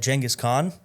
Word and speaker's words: Genghis Khan: Yes, I said Genghis Khan. Little known fact, that's how it's supposed to be pronounced.